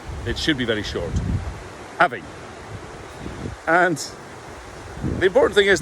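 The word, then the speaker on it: abhainn: Places like the River Avon in England come from the same root, but the pronunciation in Gaelic is not Avon, but Avin.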